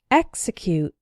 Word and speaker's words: execute: followed by a vowel, but the strong syllable is not immediately after the X, so the X is pronounced ks. Those words are exercise and execute.